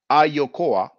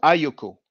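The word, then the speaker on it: Ayokoa: i should pronounce that ah yokoa not ayoko although it may sound like ayoko to the untrained ear further the akurama hak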